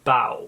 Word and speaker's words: Bao: the poor physician's apprentice, Bao. I think that's how you say his name. It's B-A-O.